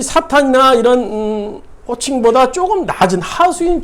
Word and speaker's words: 사탄: 그러니까 뭐 라디오, 뭐 라디오, 뭐 TV, 텔레비전 그런 의미, 영어 표기로 하면 사탄이 맞는 발음인데 우리는 뭐 사단, 사탄 뭐 이렇게 발음을 또 하기도 해요. 그러니까 둘 다 맞는 거고요.